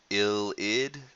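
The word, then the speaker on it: ylide: hinges on what um having this uh illid ill ID so this thing right here is spelled y l i d e but it's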